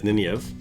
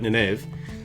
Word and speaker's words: Nynaeve: Nynaeve, who I always pronounce reading the book as Nynaeve, but Nynaeve.